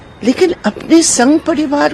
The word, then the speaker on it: Paris: पेरिस नहीं, पेरी।